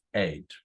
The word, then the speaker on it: ate: room very good we ate dinner together in the dining room so the pronunciation is eight correct very very well Jose Alison number 13.